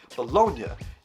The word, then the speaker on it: Bologna: You know, you just have to know how to pronounce Italian words or realize that the second half of the word is the exact same as the second half of lasagna.